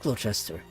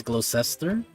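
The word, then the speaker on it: Gloucester: I'm not even sure how it's pronounced, so I apologize right now, but I've been mispronouncing the name for this whole time. It's Glocester.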